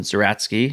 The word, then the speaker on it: Zeratsky: tell us what inspired you and and John zeratsky am I pronouncing his last name right zatki yeah yeah that's right okay we can just